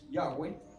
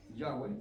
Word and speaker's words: Yahweh: En inglés es Yahweh. El hermano pronuncia Yahweh es en inglés, pero en español es Yahwe, incluso la Biblia católica lo pone en muchas Biblias.